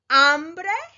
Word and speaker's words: hambre: 3 words in Spanish: hambre, hombre, and hombro. As you can see, they are very similar in their spelling. All 3 start with an H, H, which in Spanish, remember, the H is silent.